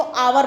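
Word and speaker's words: hour: Next है, it takes मी, अभी मैंने बताया था इसको हॉर नहीं पढ़ते, इसको आवर पढ़ते हैं।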